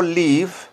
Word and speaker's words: live: Oigan Cómo se pronuncia escuchen la pronunciación escuchen la Atentamente vean escuchen leve Live y vean Cómo suena la v miren Cómo se pronuncia con mi labio el labio y los dientes de arriba hay que hacer un sonido como el de la letra f de feo Fernando flor left left live vivir